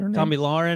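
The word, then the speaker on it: Tomi Lahren: me warren is that tommy lauren i think is how you pronounce it yes i'll have a crew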